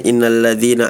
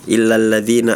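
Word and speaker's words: إن الذين: Terus berikutnya di surah Alburuj harusnya innalladzina amanu tadi bacanya illalladzina amanu.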